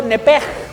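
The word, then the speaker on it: נפש: La palabra alma viene del hebreo nepej, que en realidad se escribe con CH, nepech, pero la CH en hebreo se pronuncia como J.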